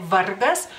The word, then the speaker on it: vargas: No más que en el acento cae sobre la r Vargas Vargas pero se escribe igualito